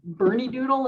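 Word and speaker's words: Bernedoodle: Is it Bernie Doodle? Is that how you pronounce her breed?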